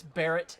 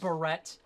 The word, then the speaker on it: Barrett: a barrett 50 cal it's barrett not barrette uh i mentioned this